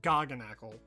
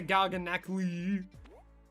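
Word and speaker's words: Garganacl: I know for a fact it's pronounced Garganackle. I watched Pokemon Horizons and I know that for a fact. They don't say Garganackly.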